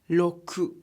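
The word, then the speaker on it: ろく: is pronounced as lingo the number six is Roku but it's pronounced as low crew in an addition double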